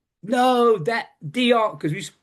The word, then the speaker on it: Dionne: He's like, no, that Dion, because we call Dionne Warwick in England Dionne Warwick because of the way it's spelled.